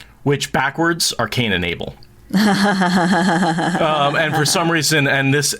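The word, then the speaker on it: Abila: names in that one couple hopefully i didn't butcher them too too badly uh well your dyslexia the name of the town it's abela what'd i say albia i did dyslexia that yeah which i completely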